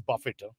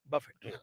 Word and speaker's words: Buffett: By the way, it's Buffett. Buffett. You guys are saying it wrong.